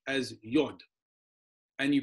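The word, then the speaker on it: יוד: in Hebrew you pronounce the letter Y as yad and you pronounce the letter H as hey and then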